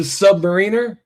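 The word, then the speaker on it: Sub-Mariner: The Submariner? That's how it's pronounced.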